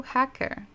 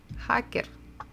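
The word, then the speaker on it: хакер: in Russian language but one of them is hacker so hacker hacker sounds pretty much the same and again why because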